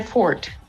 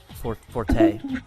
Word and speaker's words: forte: Game didn't look too bad, but boards games just not exactly my forte. Forte. A fort is something that you live in. It's a forte.